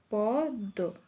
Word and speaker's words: পদ্ম: হবে দ্বিতীয় উচ্চারণ হয় যেমন হচ্ছে পদ্ম এই পদ্ম পদের শেষে শেষে দ এর সাথে ম যুক্ত রয়েছে তাহলে এখানে যে দটি রয়েছে সেই দটি দীর্ত হবে পদ্দ এরপরে যদি বলি আত্ম